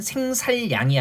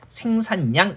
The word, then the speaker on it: 생산량: 헤아릴 양자에서 리을로 시작하는 한자가 왔을 때 이때는 생살량이 아니라 그죠? 리을이 니은으로 비음화돼서 생산량 이렇게 발음되는 게 맞습니다.